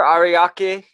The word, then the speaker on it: Ariake: you know your home studio coast you differ Ariake am I saying it right yep yeah you've